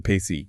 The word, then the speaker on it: P/ECE: The Pacy, yeah, pronounced peace.